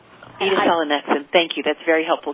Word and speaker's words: edasalonexent: Um, we are pronouncing it, uh, Edith Salanex. Um, so with the accent on the first syllable and the next syllable. So, Edith Salanex. Edith Salanex.